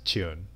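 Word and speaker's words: 中: And the Chinese pronunciation of that character is Chun, or at least in Japan they say it is, because when you play Mahjong you have to call that tile Chun.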